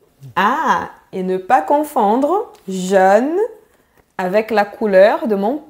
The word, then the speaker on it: jeune: C'est le mot jeune. Très bien, super. C'est un mot difficile pour les étrangers, ça. Hein? Ouais, c'est vrai. Jeune. C'est bien vertical.